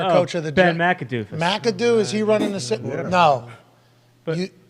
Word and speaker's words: McAdoo: of the Ben McAdoo McAdoo is he running no but is it I think you gave it four syllables I think it's only three it's not macadoo Jackson it's not huge